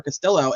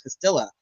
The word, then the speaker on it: Castilla: cannot say her name I want to call her Castillo and it's not it's Castilla Castilla on or about